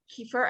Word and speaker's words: kefir: a lot of probiotics: yogurt, obviously cultured yogurt, kefir. I can never pronounce it correctly.